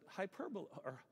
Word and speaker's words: hyperbole: And we pronounce it hyperbole.